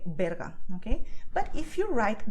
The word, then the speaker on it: Berga: And the last word here is very strange because Berga is a city near Barcelona, okay? And it's pronounced this way, Berga, okay?